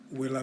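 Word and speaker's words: villa: word for house which is right means road willa means house that's all for now we'll come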